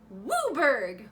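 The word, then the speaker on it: WUBRG: It could be a domain deck, 5-color, or WBRG, which is pronounced Wooburg, which is such a fun word. Wooburg.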